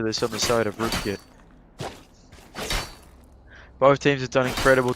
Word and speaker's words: Rootkit: on the side of root tick has yet to pick up a positive KD sorry it's root kit isn't it I've said it wrong twice now I've really